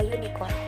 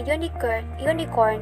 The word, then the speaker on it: unicorn: In the second example, the article a is used because the U in the unicorn has the sound of the consonant Y, as in yell.